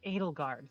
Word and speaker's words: Adelgard: Ato elderard. She flinches a little bit. Pard pardon. I got the name wrong. It's it's Adelgard.